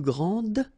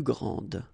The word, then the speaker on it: grand: elles sont les plus grandes. Okay, so phonetically what you can hear is that this first form here for the masculine, grand, so you don't pronounce the final D, will be exactly the